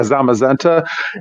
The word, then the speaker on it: Zamazenta: is it called Zeta is that how you pronounce it I think it's like zamazenta or something like that yeah zamazenta and I got those certificates I didn't know